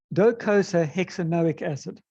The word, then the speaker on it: docosahexaenoic acid: If you really want to know how you pronounce it, it's docosahexaenoic acid.